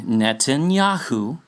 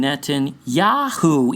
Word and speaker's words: Netanyahu: They're infusing Yiddish into it to make it sound like it's pronounced Jahu instead of Yahoo, yet everyone pretty much pronounces the name Netanyahu, even themselves.